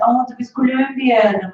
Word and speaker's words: Colombia: But then I said, well, then why are you pronouncing it Colombia when it's Colombia?